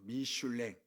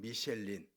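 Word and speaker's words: Michelin: 미쉘린 대회를 했거든요 어 미슐랭 그건 부르시 발음이고 영어로는 미쉘린 그 대를 했는데 열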